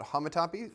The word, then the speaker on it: homotopy: of them, they say they call it homotopy, so you can pronounce this word either way.